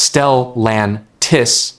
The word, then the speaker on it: Stellantis: Stellantis pronounced Stellantis has warned of a $3.7 billion loss in